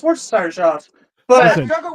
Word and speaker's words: Worcestershire: Hey, but it is entertaining to watch something say like, Oh, "Where's your sister sauce?" And you're like, pronounce it already off the rip. Yeah, okay, it's pronounced Worcestershire sauce.